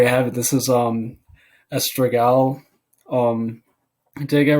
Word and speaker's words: Astragal: You know, we just say Astragal, but I hear people saying Astragal, Stral.